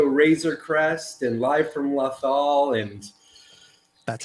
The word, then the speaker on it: Lothal: All your other shows like Radio Razor Crest and Live from Lothal and That's how it's pronounced, yeah.